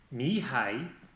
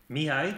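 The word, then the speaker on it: Mihály: Et un petit rappel pour savoir comment se prononce déjà... Mihai, Csikszentmihalyi. A little bit faster this time. Mihai, Csikszentmihalyi.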